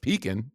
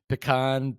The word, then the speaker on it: pecan: Pumpkin pie is my number one for sure, but pecan pie is the only pie that you can pronounce, I think, three different ways. Yeah, peacin for sure is one. Yep. Pecan. Pean.